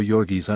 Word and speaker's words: Jurgis: One pronounced underscore Yorgis underscore. Ona was blue-eyed and fair while Jurgis had great black eyes